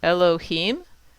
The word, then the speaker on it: Elohim: Elohim. Here's the trope mark. So it's telling us the accent is on the hem.